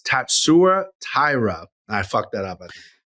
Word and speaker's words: Tatsuro: My name is Tatsuro Taira. Tatsuro. Right. So Tatsuro. I've been saying Tatsuro, right? So I've been emphasizing the wrong syllable.